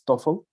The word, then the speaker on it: TOEFL: And just to double check, because some Monterrey schools have the TOEFL, whatever, it's TOEFL. The TOEFL, just to standardize the pronunciation.